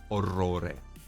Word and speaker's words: orrore: No, like in Italian, for example, a word with many R's would be orrore, horror. Orrore. That's how you pronounce it. The R needs to roll.